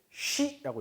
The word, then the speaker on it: Ski: 스키라고 써있죠? 독일어로 얘는 쉬라고 있습니다. 쉬. 왜요? 선생님 발음이 그렇게 안 되는데요? 네, 발음이 그렇게 안 되는 게 맞아요. 그런데 독일에서 그렇게 읽더라. 쉬. 표준 발음입니다. 사투리 아닌 표준 발음입니다. 써있기는 스키라고 써놓고 쉬라고 읽어요.